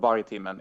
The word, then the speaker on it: Vargtimmen: It's not very easy to spell if you're not Swedish, but I can spell it out for you. So you Please can just do, yeah. include. Okay, it's VARG TIMMEN.